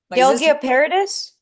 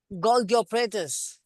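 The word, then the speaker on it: Golgi apparatus: Gilgoparadis. Sorry. Gilgoparadis. I forgot how it's pronounced. Golgi operatus.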